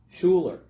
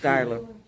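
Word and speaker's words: Schuyler: Dunkirk, Tonawanda, Schuler. Skylar. Jerry, what did they tell us? It is Skylar, isn't it? It is Yep. Skylar. Skylar.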